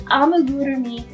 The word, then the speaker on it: amigurumi: Amigurumi, yes, I promise you can pronounce it. A-mi-gu-ru-mi.